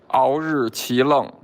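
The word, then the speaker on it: Aoriqileng: My name is Aori Qileng, Mongolian murderer.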